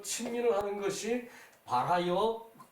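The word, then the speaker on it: 新民: 그 제명명덕 이제 신민 이것을 신이라고 써놓고 친이라고 읽죠, 그죠? 친 마찬가지예요. 친민 그 다음에 지어지선이죠, 그죠? 그러니까 삼강령 그 명명덕을 하고 그리고 저기 그 친민을 해 그 저기 그 세상을 저기 그 화를 하는 게 친민이에요, 그죠?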